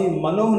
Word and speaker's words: Manoah: और जो नाम सैमसन के पिता का था, यहाँ लिखा हुआ है, दानियों के कुल स्वरावासी मनोह नामक एक पुरुष था, जिसकी पत्नी के बाज होने के कारण कोई पुत्र न था।